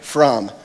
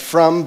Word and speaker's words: From: So if you can do that and just become his friend, Tyler From, like from, but from, the British pronunciation.